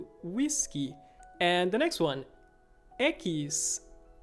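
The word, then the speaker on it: equis: like gu whiskey whiskey and the next one ekis ekis for example taxi a taxi taxi taxi so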